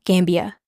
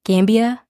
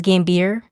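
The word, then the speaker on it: Gambier: or something like that I just mispronounce Gambia as gambir the entire episode because that's how it's spelled so hopefully I'm saying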